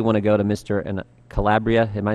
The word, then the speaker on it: Calabria: Calabria. Am I saying it right? We've heard several Calabria.